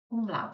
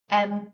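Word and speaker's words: umlaut: a u t and if you notice even the name of it has got that ow sound in that we talked about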